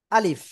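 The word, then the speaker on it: ا: আলিফ কি অক্ষর আলিফ এই আলিফ অক্ষর কোন জায়গা থেকে উচ্চারণ হয় মুখের খালি জায়গা থেকে এই মুখের খালি জায়গা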